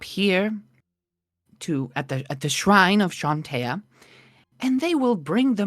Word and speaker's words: Chauntea: In common, you would see at the base of the statue that it says Chauntea, Mm-hmm. or Chauntea, how you'd pronounce it. It's Chauntea.